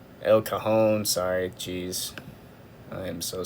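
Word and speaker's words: El Cajon: Uh, you can go all the way up here to Lakeside, Sante, El Kazone, El Cahone, sorry. Jeez, I am so sorry for that pronunciation there.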